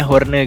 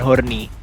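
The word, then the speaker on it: Hoorne: sebagai Mak, Davika Horne, ini dibacanya Horne guys, bukan Horny, sebagai Nak, Pong Saturn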